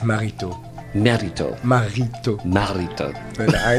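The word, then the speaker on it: Maritaud: I butchered it so you can say marito it's okay to me but in French with the proper French accent is Felix marito marito marito marito but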